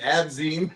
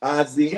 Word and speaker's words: Azim: She can all the time be How do you say Azim? They say Nazim. How do you pronounce it? Azim.